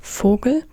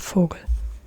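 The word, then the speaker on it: Vogel: typical German word but if you say bird as an example this means fogal they're fogal and here you see it it's Fogle that Fogle and yeah please don't ask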